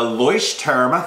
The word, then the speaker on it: Leuchtturm: And that is the Leuchtturm, thank you for correcting my pronunciation, 1917 bullet journal.